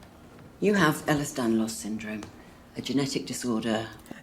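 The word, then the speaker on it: Ehlers-Danlos: You have Ellis Danlos syndrome, a genetic disorder. They pronounced it right.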